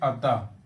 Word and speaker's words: अतः: तो उदाहरण में जैसे देखें अतः, अतः देखिए हा की तरह आ रहा है, अतः स्वतः मनोकामना या मना कामना, ये भी है।